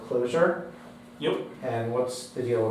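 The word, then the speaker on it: Clojure: and what's the story spelled like that and you pronounce it closure yep and what's the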